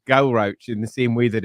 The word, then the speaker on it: Galrauch: I'm fully aware that it's definitely a ch sound because it was written by English people for an English- speakaking audience.